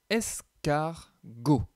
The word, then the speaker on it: escargot: Ici, nous avons le mot escargot. Escargot, le G se prononce G.